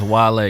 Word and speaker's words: Wale: His name pronounced is Wale. You're showing your age, but it looks like whale, and it's funny because Well, it doesn't look like whale. There's no H.